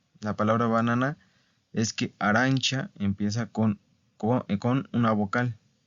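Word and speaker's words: arancia: banana Bueno arancha arancha okay acuérdense de la pronunciación arancha verdad entonces otra vez verdad termina con qué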